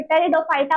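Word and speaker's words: Pteridophyta: टेरिडोफाइटा की spelling P से start नहीं होती है। पी से स्टार्ट होती है। पी वहां पर साइलेंट रहता है।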